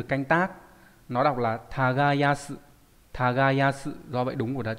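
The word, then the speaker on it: 耕す: Nó đọc là tagayasu.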